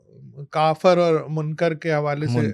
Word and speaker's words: کافر: بھی شاعر نے تو پھر وہ آپ نے کافر ہی پڑھنا ہے. تو وہ پھر آپ کو یہ اچھا پھر وہ ہے بھی کہ عربی کا لفظ ہے تو وہ اس کا تلفظ عربی میں کافر ہی ہے.